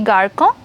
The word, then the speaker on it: garçon: Did I pronounce this incorrect? It should be garçon.